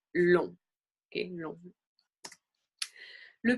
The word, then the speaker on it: long: Le G généralement, par contre, est une lettre muette. So the G is usually muted. Donc, par exemple, en rang, in line, being in line, long.